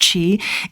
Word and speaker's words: qi: works is we have Chi running through our body it's um spelled Qi but it's pronounced Chi it's a chemical energy